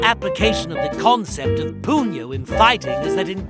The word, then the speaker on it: punyo: In Tagalog, puno pronounced puno generally means the butt or base of something like the end of a stick or the base of a plant.